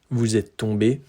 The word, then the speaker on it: tombé: The pronunciation is the same. Vous êtes tombé. Vous êtes tombé. Vous êtes tombé. Vous êtes tombé. Those four different configurations, they all have the same pronunciation. Then if we speak to